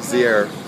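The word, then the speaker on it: Zierer: Actually, it's pronounced Zier.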